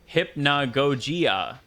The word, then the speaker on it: Hypnagogia: game's title hypnogogia and you pronounce it hypnogogia okay so it is